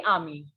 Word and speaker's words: ami: female then some surprisingly it will again be ami no the pronunciation will be same either it is a